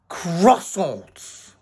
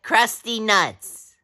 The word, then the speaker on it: croissant: I like croissants. I like crusty nuts. No, no, no, no, no! You say it wrong! It's a croissant!